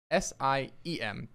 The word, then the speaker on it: SIEM: So today we're talking about SIEM. S-I-E-M. SIEM, yes. with a silent E.